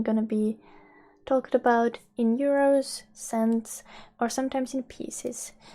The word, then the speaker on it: euro: be talked about in euros, cents, or sometimes in pieces. So euro in Finnish is euro. Euro. It's written the same, but it's pronounced in a Finnish manner.